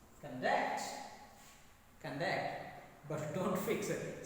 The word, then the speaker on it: conduct: Now, stress placement is second. Conduct.